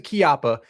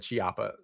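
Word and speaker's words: Chiappa: I have to pronounce a kiappa because everybody has murdered me in the YouTube comments because I said chiapa so many times.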